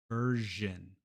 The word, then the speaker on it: version: After an R, like in version.